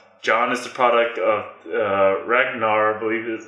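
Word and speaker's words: Rhaegar: the episodes that John is the product of Ragnar believe is how you say his name which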